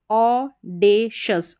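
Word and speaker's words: audacious: Pronounce किया जाता है ए यू का उच्चारण ओ फिर है डी ए ऑडेशस ऑडेशस ऑडेशस ऑडेशस तो यहां पर उच्चारण है देख के प्रैक्टिस करें।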